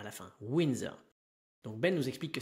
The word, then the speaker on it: Windsor: d S o r mais ça va se prononcer comme si ça s'écrivait e ur r à la fin winser donc ben nous explique que cette maison est